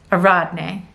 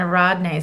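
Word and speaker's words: Ariadne: Okay, so we have, Dionysus and, I always say this name wrong, Aradne, that's it. Dionysus and Aradne.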